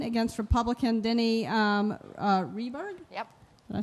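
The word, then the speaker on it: Rehberg: a strong campaign against Republican Denny um uh reberg yep did I say it right right that's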